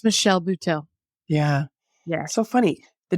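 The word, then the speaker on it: Michelle Buteau: Instagram and I don't want to get her name wrong is it the bhau Lady Michelle bhau it's Michelle bhau yeah yeah so funny the day you told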